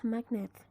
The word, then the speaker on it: magnet: For example, in the word magnetic, the stem is magnet. The suffix is ic, magnetic. The stress moved from mag to net. So if there's no suffix, you're going to pronounce magnet.